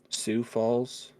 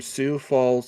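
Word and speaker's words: Sioux Falls: from uh what's that isn't that pronounced Sue Sue Falls maybe that's the that's the Native American tribe the Sue isn't it I think that's how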